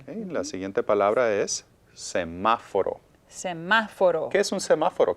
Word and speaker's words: semáforo: The stress is on ma, and that's the third to the last syllable.